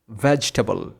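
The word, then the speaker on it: vegetable: এই শব্দটাকে আমরা অনেকেই ভুলভাবে উচ্চারণ করে থাকি, অনেকেই বলি ভেজিটেবল, কিন্তু এটার সঠিক উচ্চারণ ভেজিটেবল হবে না, এটার সঠিক উচ্চারণ হবে ভেজিটেবল, ভেজিটেবল। প্রথমে হচ্ছে BVEG, ভেজ, তারপরে ই সাইলেন্ট থাকবে, তারপরে হচ্ছে টেবল, ভেজিটেবল। তো আশা করি ক্লিয়ার এই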